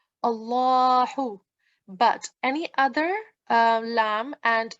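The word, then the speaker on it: الله: And whenever there is a fatha or fatha ishbaiya or dhamma on it, we pronounce it in a thick sound, Allahu.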